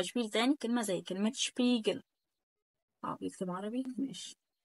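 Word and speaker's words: Spiegel: عندي بعد كده شبيجل شبيجل خلي بالك كمان الاي جت كمان مره اهي شبيجل وبعد كده شسس ما تقوليش بقى سباس ما تقوليش بقى سبيجل ما تقوليش بقى سور الكلام ده ممنوع يبقى انا بنطق زي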